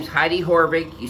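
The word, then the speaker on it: Haavik: then quarterback does it it's not spelled the way it sounds it's spelled h a a v i k which a lot of people including myself initially called her heidi havoc but she's anything but having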